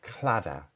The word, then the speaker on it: claddagh: Claddagh. And very strange Irish spelling. Claddagh.